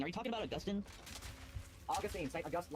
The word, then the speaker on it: Augustine: You are basically saying, oh, because that Augustine taught about predestination, that means Calvin now pretty much disagrees with him in all the things.